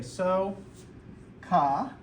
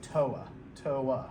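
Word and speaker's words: SOHCAHTOA: way i try to make this a long o i try to say so because i've had students kind of say saw for it and then it starts to sound like an a there so i try to get them to say so ca and this becomes a long o and a soft a toa toa right so they can get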